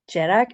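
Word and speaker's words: dearg: Jerak, again, stick the extra syllable in there. Jerak, we don't want any jerks.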